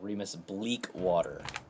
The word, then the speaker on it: Reamus Bleakwater: Remis Bleak Water. Thank you. Thank you for annunciating the proper pronunciation of my name.